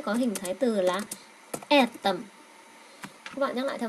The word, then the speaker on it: этом: Về tầm trọng âm vào chữ e nha.